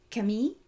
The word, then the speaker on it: Camille: believe the the Ki Camille I in the show they say Kam because that's how you say it in French right but I don't